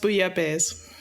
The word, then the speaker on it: bouillabaisse: Also, it's pronounced bouillabaisse.